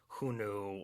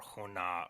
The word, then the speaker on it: Xiongnu: The theory is based mostly on kind of linguistic evidence and a belief that the contemporary pronunciation of Xiongnu was Hunu or Hona or something close to that.